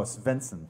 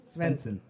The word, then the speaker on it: Svensson: Stevenson? Stevenson. Oh, Svensson. Svensson.